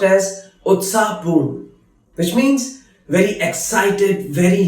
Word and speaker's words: उत्साहपूर्ण: उत्साहपूर्ण, which is pronounced as उत्साहपूर्ण, which means very excited, very lively.